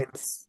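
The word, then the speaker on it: עץ: Etz. Etz. Yes. Alors, etz, tu dis et, et puis tu fais s après.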